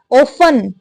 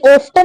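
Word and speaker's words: often: वो कुछ करती थी, ऑफन, ये ऑफ्टन नहीं पढ़ना है, ऑफन पढ़ना है। इसमें जो टी होता है ये साइलेंट होता है।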